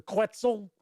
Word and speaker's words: Quetzal: my upcoming review of quatzel or quetzal rhymes with pretzel i don't know it